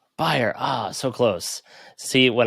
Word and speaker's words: Beier: thanks for having me so how do you pronounce your last name it is buyer buyer ah so close see when i sent you